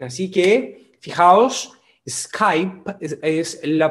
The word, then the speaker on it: Skype: a skype a skype y así que fijaos skype es la pronuncia original y escape como lo dicen como dicen los hispanos acá